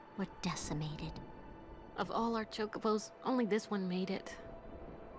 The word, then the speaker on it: chocobo: So it took me an embarrassing long amount of time to realize that it's pronounced chocobo.